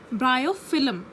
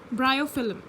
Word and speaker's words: Bryophyllum: Please listen to the pronunciation. Bryophyllum. Bryophyllum.